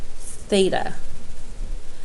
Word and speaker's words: theta: down what that is we pronounce that theta it's part of the Greek alphabet and it's commonly used